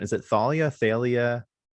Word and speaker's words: Thalia: Now, let me catch your pronunciation. Is it Thalia, Thalia? Talia.